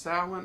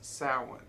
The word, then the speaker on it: Samhain: Now, it is usually pronounced Samhain or Samhain.